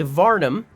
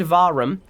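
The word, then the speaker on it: Vahram: uh while while kidnapping him a man named varnum uh sorry I keep saying his name wrong vum a man named varum uh caught up to her killed the Prince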